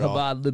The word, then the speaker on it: Chabad: habad say it right say it habad Lich the Chabad from